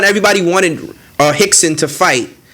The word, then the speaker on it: Rickson: So basically UFC 1, everybody wanted Hickson to fight. it's kind of weird because his name is Hickson, but it's spelled Rickson.